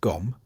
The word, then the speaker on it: Gqom: Gqom, pronounced Gom, emerged from Durban's townships and brought with it a raw, minimalistic sound driven by heavy bass and sharp rhythm.